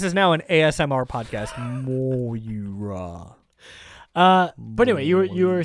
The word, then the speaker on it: Moira: You kept saying Myra, Myra, and Moira. Yeah. Moira. Yeah. Okay. Yeah. Well, now I know. This is now an ASMR podcast. Moira.